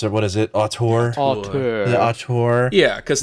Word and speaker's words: auteur: I'm not gonna be able to pronounce it. What is it? Auteur.